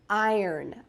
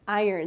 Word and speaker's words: iron: with it this is an iron notice the pronunciation I earn iron iron this is an iron and with an iron